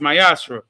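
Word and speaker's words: מַעֲשֵׂר: 3 vers 8 through1 means 10 in Hebrew is pronounced Myra 10% of every penny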